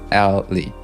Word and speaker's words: Ali: Ali? Wait, Ali. Like it's A-L-L-E-Y. Basically. Ali. Like 2 syllables.